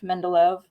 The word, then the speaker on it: Mendeleev: Mendeleev. I always say his name wrong, so I always want to make sure I'm saying it right.